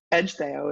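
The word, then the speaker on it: Ecgtheow: you know this one Edge Theo is how you say that but if you don't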